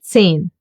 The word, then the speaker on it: zehn: The letter H in German is a strange little fellow. When he's alone, he will not be pronounced and stay silent. Like for example in Zehn. You don't hear it.